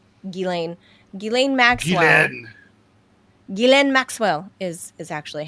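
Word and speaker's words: Ghislaine: Gileen Maxwell is is actually how it's pronounced.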